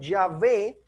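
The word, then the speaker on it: Yahvé: vez más estos manuscritos que la pronunciación ya ve debió haber sido la más correcta también hay datos evidencias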